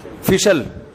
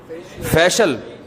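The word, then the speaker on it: facial: फिशल फिशल फिशल फैशल अबे सही pronunciation बुलवाया करो। फिशल ना फैशियल ये अमेरिका से आए हैं। ये सही बताएंगे। जी? फेशियल फेशियल फेशियल यह अमेरिका से आए हैं।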